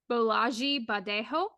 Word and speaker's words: Bolaji Badejo: It was definitely not it was not a American name, Yeah, or I believe the correct pronunciation is Bolaji Badejo, who was yeah, originally a visual artist, and he literally was 7 feet tall.